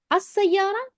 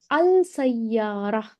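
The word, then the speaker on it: السيارة: As-sayyara is a specific, that particular car. And why are we pronouncing as-sayyara? Why don't we say al-sayyara?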